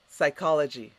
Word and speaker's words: psychology: lunatic so crazy psycho next word psychology repeat psy call the g what does it mean